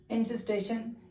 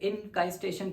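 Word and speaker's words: encystation: फिर देखो नेक्स्ट आता है इंसिस्टेशन, या कोई इसे इनकाइस्टेशन प्रोनाउंस करते हैं, तो वो हमारी इच्छा है या आपकी इच्छा किस तरीके से आप प्रोनाउंस करना चाहते हैं, तो हम इसे इंसिस्टेशन कहते हैं।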